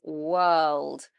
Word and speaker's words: world: So it will be world. So if you find yourself not saying this word correctly, try to feel that the back of the tongue is coming up, and that's when you know you're making dark L.